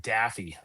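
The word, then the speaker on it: Daffue: with how do you spell how do you pronounce D A FFue? MJ Daffy.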